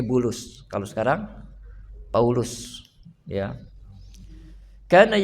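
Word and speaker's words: بولس: Ba lam sin. Ya, dibacanya bulus.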